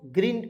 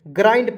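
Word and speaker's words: grind: ग्रीड इसे पढ़ेंगे दोस्तों ग्रीन बहुत लोग पढ़ लेते हैं गलत है ग्राइंड पढ़ा जाता है ग्राइंड मीस होता है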